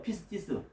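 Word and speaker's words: πίστις: 그 이름은 충신이 발음하면 피스티스예요. 피스티스.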